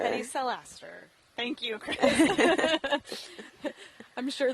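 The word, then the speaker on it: Pedicellaster: So Pedicelaster. Pedicelaster.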